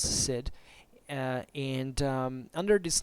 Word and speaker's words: Cid: fact it's written spelled C I D and pronounce said and under this name because we don't I